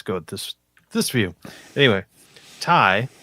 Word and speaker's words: ty: Anyway, Ty, I think I'm pronouncing it Ty. I don't know how it's supposed to be. I've asked Charlie Marsh. It's Ty. No, wait. Okay. No, it's T? TY. TY. It's TY. Okay.